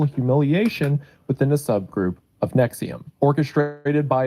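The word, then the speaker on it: NXIVM: podcast called Allison After Nexium. Although you would never guess Nexium's pronounced that way if you look at it.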